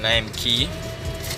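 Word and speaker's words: Lime Cay: And there you're seeing an advertisement saying Lime Key. It's spelled C-A-Y, but it's pronounced Key.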